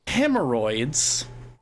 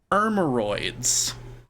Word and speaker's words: hemorrhoids: So in the word hemorrhoids, I left off the first H. And then, inexplicably, I threw in the sherbet thing. So I pronounced hemorrhoids ermoroids for like... I think until I was like 15, and my dad was like, "Are you doing a bit? It's not pronounced like that."